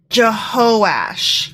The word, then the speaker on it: Jehoash: I mispronounced that. It's Jehoash.